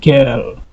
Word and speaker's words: girl: Donc, ici, au niveau de là aussi, ici, I est suivi par R, les deux se prononcent par R. C'est pourquoi on a ici girl.